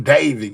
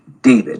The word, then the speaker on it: d4vd: Uh, and all of it has centered around the singer named uh, David. It's pronounced David, but it's spelled uh, with um, with a four.